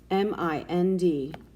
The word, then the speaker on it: mind: exception number six mind m-i-n-d mind now was it a closed-syllable exception or just a closed syllable right it's an exception mind has a long eye end and plus there's